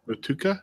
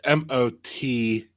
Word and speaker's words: Motueka: Matuka? Is that how you say it? You're asking the wrong dude. It's Motueka. It's probably Mateka. Motueka.